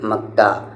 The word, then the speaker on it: مکہ: یعنی یہ ہا ہے لیکن اس کی آواز الف جیسی ہوتی ہے۔ جیسے یہاں پر مکہ لیکن آپ کیا کہیں گے؟ مکہ۔ کعبہ، عمرہ، عین پر